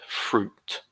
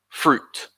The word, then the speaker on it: fruit: another one with fruit this is an ooh sound fruit one sound again stick your lips out fruit we like diphthongs in